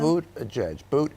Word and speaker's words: Buttigieg: How do you pronounce his name again? Buttigieg. Okay. Buttigieg.